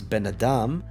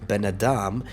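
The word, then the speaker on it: בֶּן־אָדָם: away from the band normally the accent would fall on the part Ben because it is a closed syllable with an accent but here benadam the mckev shifts the accent towards the Adam part so benadam son of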